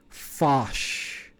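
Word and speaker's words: Phosh: shell or fascist fascist spelled pH oh Sh Fache yeah you pronounce it like fos 8 so it's Fache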